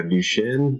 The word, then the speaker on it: Duchenne: Scott's a native and resident of Portland, Oregon, born with, and Scott, can you help me pronounce this correctly? Yeah, Duchenne Muscular Dystrophy. Okay, Duchenne Muscular Dystrophy.